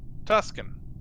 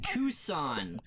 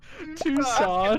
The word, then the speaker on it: Tucson: Tuscan. Or two. I would say Tucson. Tucson. The C is silent.